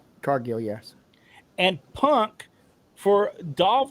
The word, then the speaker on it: Cargill: Cargill is that how you say her name Cargill yes and punk for Dolph Ziggler and Edge